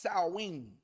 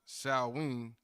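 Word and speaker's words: Samhain: spelled just so we can get it it's pronounced Sween but it's spelled s a m h i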